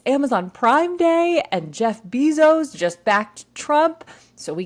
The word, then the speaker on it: Bezos: billionaires confused because Jeff Bezos or not Jeff bezo no I'm saying it wrong again this is what I do guys Jeff Bezos is Amazon I learned